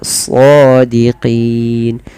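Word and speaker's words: صادقين: mim dan ba mfal sodiqin tebalkan shodnya karena dia bukan bukan shya sh ya shodiqin qin ada bacaan mad arid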